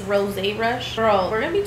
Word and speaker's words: Rosé Rush: So I call it rose rush, but I think it's pronounced rosé rush.